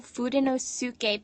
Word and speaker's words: Fudenosuke: Yes, I will be using for most of the instruction for next week the Tombow Fudenosuke pen. And Tombow assures me that I am pronouncing that correctly.